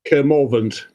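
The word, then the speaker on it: Kermorvant: Can you pronounce it for me? Kermovant.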